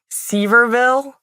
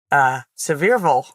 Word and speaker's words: Sevierville: How do you pronounce it? Sevierville. I don't know. It looks like Seaverville outside of Pigeon Forge. And then you show up and everyone's like, Sevierville.